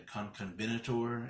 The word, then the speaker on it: Concavenator: and this is the Concavenator, or the Conconvenator, as my boy Nick Holstetter always pronounces it, which is pretty more scientifically accurate, I think, the way he pronounces it.